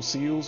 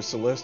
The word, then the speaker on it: Celes: Like, they sent General Seals or Celeste, depending on how you like to pronounce it.